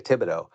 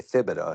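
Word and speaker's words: Thibodeau: example for you like my last name is Tibido so but I have people that I've interacted with from down south that say asido that's how they say it down there it's spelled the same it's it's it but up here and we call we say Tibido but down there they say thibo so um but yeah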